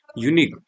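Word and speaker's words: unique: एन बिल्कुल सही होगा यूनिक यूनिक में भी आप देखें सबसे पहले किसका प्रोनंसिएशन निकल के आ रहा है साउंड निकल के आ रहा है य तो जब भी ऐसे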